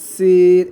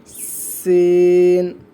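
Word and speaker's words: سين: তারপর এটা সিন, এমন চিকন একটা আওয়াজ হবে দাঁত দিয়ে। সিন, উচ্চারণ করেন, সকলেই উচ্চারণ করেন।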